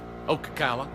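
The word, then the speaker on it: Ocala: um Jeff Weaver down in U is it okaa how do you say that Florida Okala okay ask ask Randy about off grid on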